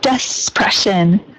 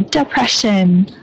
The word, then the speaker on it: depression: depression, depression instead of despression. So depression. Depression. Very good. Yeah, I just heard a slight like S or Z sound here at the beginning, but perfect that time.